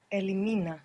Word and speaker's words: elimina: you form her elimin Elimina good and we still have the accent on the penultimate syllable Elina very good how